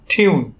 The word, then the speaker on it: tune: নিয়ম অনুযায়ী যদি কোনো ওয়ার্ডের মধ্যে ইউ থাকে এবং ইউ এর পরে একটি কনসোনেন্ট এবং তারপরে একটি ই থাকে, তাহলে সেই ইউ এর উচ্চারণ হবে ইউ এর মতো।